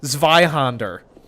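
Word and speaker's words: Zweihänder: so i will be it's pronounced zveyhonder because it's a german word it literally means two-hander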